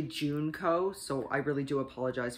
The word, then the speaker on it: Junko: last week uh with junko faruda i'm sorry i've been mispronouncing her name it's actually juneco so i really do